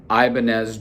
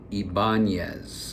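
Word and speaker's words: Ibanez: But anyhow, the music store had these um Ibanz Jumpstart. Excuse me, I said it wrong. Ibangz. I've been corrected many times. Ibangz is the correct way.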